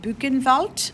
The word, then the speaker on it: Buchenwald: So this is pronounced Buchenwald. So in German, W's are as V's, and V's come out as W's.